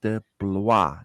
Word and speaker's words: DeBlois: de Blois.